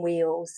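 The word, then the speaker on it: Wheal: They actually call them wheels. So wheel is spelled W-H-E-A-L, and it actually means place of work or tin mine.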